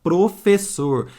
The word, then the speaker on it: professor: olha agora aqui ó na palavra Professor eu junto duas vezes a letra S e que som que vai ter som cedilha tá vendo em Professor ó 2s com som de cedilha mas Prof um s só também tem som mas se eu coloco um s só aqui ó entre vogais teria som de z e seria Professor aí fica estranho né professor não né não rola então percebe